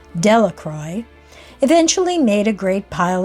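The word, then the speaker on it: Delacroix: The villagers pronounced his name Delacroy, eventually made a great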